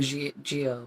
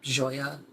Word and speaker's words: Gioia: do you say it not aqua geo but aqua joya which i'm not at